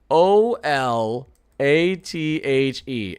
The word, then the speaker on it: Olathe: That spelling That spelling makes me mad. Olathe. How is anyone supposed to look at this who's not from here and say, "Oh, yeah, yeah, o l a t h e. Yeah, that's obviously Olathe." What? No way. No way none of you would have got that right if you didn't already know.